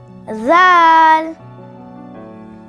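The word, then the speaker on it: ذال: Zaal. You can spell it in English as Zaal. Zaal. It sounds like the soft sound of the English alphabet Z. Z for zip.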